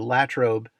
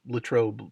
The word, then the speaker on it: Latrobe: I take the the bus from Johnstown to Latrobe which I understand is how it's pronounced not Latrobe like in the Rolling Rock commercials and from